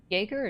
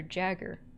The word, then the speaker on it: Jagger: you pronounce her name Jagger or Jagger I just know that her name is supposed to sound like Baba Yaga and joerger sound Barbara